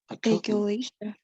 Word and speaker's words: achalasia: It's similar to this one, so it would be Achalasia. yes, achalasia. Great. You know the ch pronunciation is like a q, right? So it'd be achalasia.